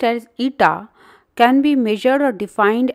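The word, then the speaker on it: η: The coefficient of viscosity, pronounced as eta, can be measured or defined as the ratio of shearing stress to the strain rate.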